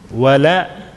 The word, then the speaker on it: ولا: والثاني ولا لام has to be light.